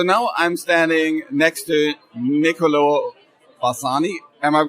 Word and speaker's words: Niccolò Bassani: So now I'm standing next to Niccolò Bassani. Am I pronouncing that correctly?